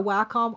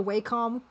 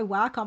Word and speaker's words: Wacom: You don't need to get a Wacom. I call it a WHCOM. Like now that we're talking about mispronunciations, um, you don't need to get a Wacom.